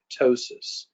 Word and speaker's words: ptosis: And drooping of the lid is called ptosis. It's spelled with a P, but that P is silent.